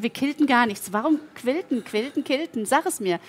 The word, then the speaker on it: quilten: Es ist, also es heißt nicht killen, sondern quilt und das tun wir heute.